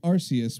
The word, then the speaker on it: Arceus: voice director Tom Wayland the dub chose pronounced Arceus with a hard C instead of a soft C due to concerns over